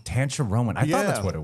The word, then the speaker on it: Tancharoen: Tancharoen. I thought that's what it was. But it's actually, I mean, listen, the Thai pronunciation is different, and I don't even really truly know how to say it properly.